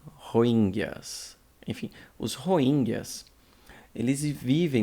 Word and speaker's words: Rohingya: Vamos lá, vamos tentar pronunciar correto, hein? Rohingyas. Rohingyas.